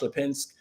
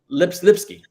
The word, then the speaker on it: Lipsky: The Atlantic Council, we actually have had a conversation with him on Twitter, Josh Lipinski, I think that's how you pronounce his name, maybe it's Lipinski. Yes, Lipsky, Josh Lipsky.